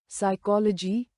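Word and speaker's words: psychology: उदाहरण column column autumn autumn condemn condemn साइलेट पी मॉन पी जब पी के बाद एस आए तो पी साइलेट रहता है। उदाहरण साइकोलॉजी साइकोलॉजी pseudo shadow साइलेट टी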